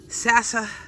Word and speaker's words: Saxifrage: I'm just going to have the Hellebores be the center stage, and then two of the Saxifrages, and then the cyclamen and the Dusty Miller, and then the Dusty Miller, the cyclamen, and how do you say this?